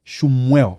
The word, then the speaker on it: Shummuel: Okay, so Samuel, but Shummuel. Shummuel. Yes. Perfect. Shummuel.